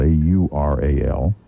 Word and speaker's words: Aural: That's spelled A-U-R-A-L. We should make that clear. This is not the Howard Stern Show. So, so it's Aural.